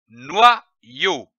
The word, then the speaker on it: noyau: L'association de ces deux syllabes donne le mot noyau.